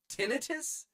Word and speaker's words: tinnitus: Tinnitus? Tinnitus? Tinnitus? Fuck that. The medical term tinnitus has two accepted pronunciations. Tinnitus, stressing the first syllable, common with medical professionals, and tinnitus, stressing the second syllable, often used by the